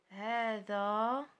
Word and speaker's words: هذا: إذا عندنا هذا رحنا كنطقوا واحد الألف هذا ولكن ما كنكتبوش. إذا ف ألف ينطق ولا يحذف رسما، يعني لا يكتب يعني يحذف رسما.